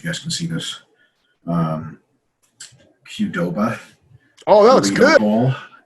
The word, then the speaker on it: Qdoba: I've got my, I don't know if you guys can see this, Qdoba.